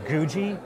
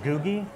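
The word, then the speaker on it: Googie: popular in diners called I believe it's GUI architecture possibly Googy it's the word Google but replace the L with an i it's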